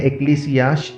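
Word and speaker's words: ἐκκλησία: Greek भाषा में कलीसिया का उच्चारण होता है एक्लीसिया इस शब्द से, जिसका मतलब है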